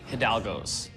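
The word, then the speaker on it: Hidalgo's: pretty sure it's hios the pronunciation of the coffee shop is clearly hidalgos okay I don't know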